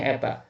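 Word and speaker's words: η: kalau pilihan ganda Kalian tidak usah nulis P ya ini dibacanya Eta tidak usah ke sini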